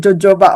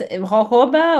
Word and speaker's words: jojoba: I pronounce it jojoba oil. Everyone says jojoba. I don't know, but Yeah, anyway, it's jojoba or jojoba.